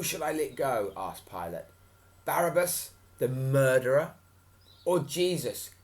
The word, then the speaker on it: Pilate: took jesus to pilate pilate oh sorry pronunciation was off there pilate the roman governor are